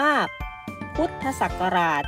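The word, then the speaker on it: พ.ศ.: ใช่ ไหม คะ ลูก แต่ ว่า เวลา เรา อ่าน เรา จะ อ่าน ว่า พุทธศักราช ใช่ ไหม คะ หรือ อีก หนึ่ง คำ นะ คะ คือ รพ.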